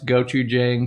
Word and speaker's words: gochujang: dollar super chat thank you jane um you pronounce gochujang correctly craig go go for short gochujang is